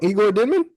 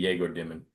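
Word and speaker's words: Egor Demin: Igor Demon is It's technically Jagor Demon.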